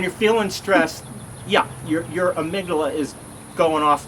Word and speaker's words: amygdala: know uh you know I said Amy De La Amy my favorite person Amy dawa Amy dollar now it's amygdala but when you're feeling stressed yeah your amygdala is going off like